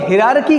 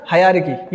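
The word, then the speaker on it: hierarchy: हरकी ये है हरकी हरकी कुछ लोग रार की कहते हैं नॉट रार की दैट इज हरकी इसमें एच आई ई आर ए ए और यहां पर जो आर है ये साइलेंट है तो हर्की वर्ड यूज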